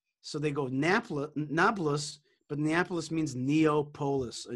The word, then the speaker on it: Nablus: arab name for shechem nablus is actually a roman world word it's comes from the word neapolis but they don't pronounce the p so they go napla nablus but neapolis means neopolis